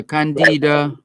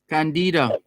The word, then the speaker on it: Candida: Why not Candida? When she had the idea Candid. Why Candida? Because Candida. Yeah, why is not Candida instead of Candida? Candida. It is Candida.